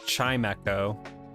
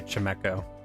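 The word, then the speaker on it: Chimecho: happen i know a lot of people say chime echo and i say it weird but i say chemeko i think everybody has at least three three pokemon that they do not pronounce correctly whatsoever so chemeko is mine i so flo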